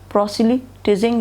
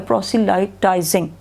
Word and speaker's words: proselytizing: इन क्या पढ़ेंगे, प्रोसिलिटिजिंग, फिर बोले प्रोसिलिटिजिंग या प्रोसिलाइटाइजिंग. तो लाइटाइजिंग जो है वो ज़्यादा प्रॉपर नहीं है प्रोनाउंसिएशन.